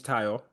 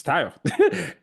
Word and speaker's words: Tayo: I would appreciate if you call me Tayo. Don't call me, which is what I did initially in middle school. So just call me because people kept mispronouncing it. And then once I got there when I was 17, I said, no, my name's Tayo. Just it's Tayo.